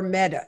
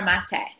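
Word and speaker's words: Maté: There's this totally left field or right field theory from a man by the name of Gabor Mete. Is that how you pronounce it? Gabor Mate. Yes.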